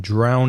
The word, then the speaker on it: drown: dr o WN ow the vowel sound in drown is al the same as now or cow so drown and also